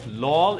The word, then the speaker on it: LOL: so you don't pronounce you don't really say the word you spell it like LOL would be the more